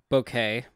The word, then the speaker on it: Bucket: flare is it's pronounced bouquet uh anybody oh it's pronounced bouquet but it's like a bucket so it makes sense